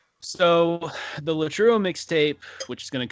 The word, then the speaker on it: Latreuo: So yeah, so Latruo, you spell it Latreuo, and you can get it on Spotify.